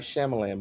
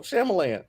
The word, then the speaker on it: Shyamalan: Night Shyamalan movies. That's what we need. It's only been like 5. You got to say his name right first. But it's not Shyamalan. It's Shyamalan. What is it?